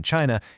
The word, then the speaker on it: qi: The absolute center of everything isqi, pronouncedq chi, it's the vital life force, the cosmic breath that flows through all things.